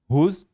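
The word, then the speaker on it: whose: ठीक है, हुज, WHO से स्टार्ट हो रहा है, W क्या होगा, साइलेंट।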